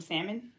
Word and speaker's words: salmon: do you want some salmon it's i'm pretty sure it's sammy i'm pretty sure it's out man you don't pronounce the l for show because it's